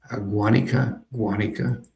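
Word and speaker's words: Guánica: Cialis, Guanica, emphasis on the first syllable.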